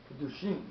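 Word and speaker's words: קידושין: Kedushim or Kedushin? No, Gemara Kedushin. Kedushin, with a nun.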